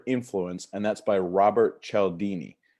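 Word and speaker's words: Cialdini: and that's by Robert Chell Dini and she'll Dini is spelled a little funny it's C I a L di n I and I believe actually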